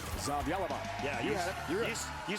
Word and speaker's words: Zavjalova: Zavjalova.